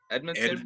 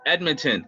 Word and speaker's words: Edmonton: edmonton uh how do you say that uh edmondson yeah yeah yeah i don't know if that if that's it let me see yeah ed edmonton yeah edmonton is the western conference and then toronto's for